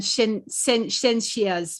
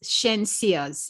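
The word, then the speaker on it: Shenseea: From the Star, the article says, Marion Hall rebukes Spice and Shensia's music. Is that how it's pronounced? Shensia's, yes.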